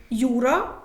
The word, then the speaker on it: Юра: ж не кажемо Руслан Юра де-юре Маринка соломинка Як бачите ми Стараємося